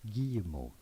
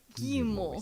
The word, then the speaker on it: Guillemot: Guillemot. Guillemot. Essentially, the I-double-L. Okay, Guillemot. Okay, Guillemot. Guillemot with a silent T at the end because it's French.